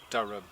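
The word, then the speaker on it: Dyrham: They say Bristolians pronounce it Durham, but it's spelled with a Y, which is natural in this area for a Y to come out as a U.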